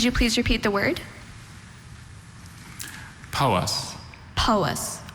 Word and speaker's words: Powys: Powys. Powys. Are there any alternate pronunciations? There's just Powys.